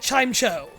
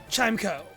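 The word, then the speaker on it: Chimecho: Or is it chime cho? Chimeo. I feel like that one's also weird where like it should be chime cuz it's a chime and it echoes.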